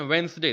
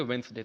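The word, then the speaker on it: Wednesday: वेडनेसडे तो लिखा है लेकिन इसको पढ़ते हैं वेंसडे, ध्यान रखिएगा। इसमें भी डी साइलेंट होता है, हम लोग भले बोल देते हैं लेकिन इसमें क्या होगा, इसको पढ़ेंगे वेंसडे।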